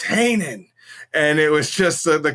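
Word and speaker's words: Heenan: and she's like reading the names and like mispronunciating them like Bobby the Brain Hannah it's Hanan and it was just the comedy back and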